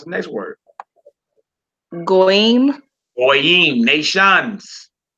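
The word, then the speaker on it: גויים: Goyim, nations. Notice we don't say goys. Goys. Heathens, goys. No, it's goyim.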